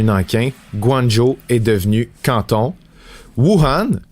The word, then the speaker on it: Wuhan: Wuhan, le berceau de la COVID-19, très chanceux, n'a pas à être francisé, si vous le demandiez, c'est la prononciation exacte en chinois.